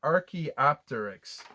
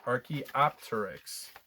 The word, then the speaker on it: archaeopteryx: another big word um i'm so glad this pronunciation guide is here so this is an archaeopteryx archaeopteryx so an archaeopteryx i guess you'd call him a dinosaur bird